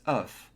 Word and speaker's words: oeuf: The pronunciation of egg in the singular form is oeuf. Pronounce the final F. In the plural form, the final F and S completely disappear.